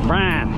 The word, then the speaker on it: Brian: And by the way, my first name in the South is one syllable. Brian.